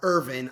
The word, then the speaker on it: Irvine: The Good Life by William Irvine or Irvin I RV I ne he pronounces it Irvin and he's a philosophy